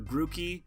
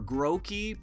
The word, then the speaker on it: Grookey: And then for Grookey, or Groki, because the double O, I believe in Japanese, is O, like grow monkey, like grass monkey.